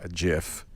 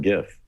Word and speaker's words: GIF: and said his five word speech was it's pronounced jif not gif ah did people didn't care the next day